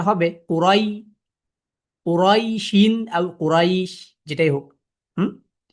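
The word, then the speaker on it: قريش: ইয়া সুকুনের উচ্চারণটা হবে কুরাই, কুরাইশিন আর কুরাইশ, যেটাই হোক।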